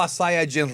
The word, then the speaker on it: Saiyajin: It's actually pronounced Super Saiyan Rose. Oh, it might be Super Saiyan Rose when they dub it, but it's Super Saiyajin Rose.